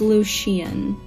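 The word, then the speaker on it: Lucien: lucian i mean uh where's the pronunciation it's lucian okay so i was close i digress i apologize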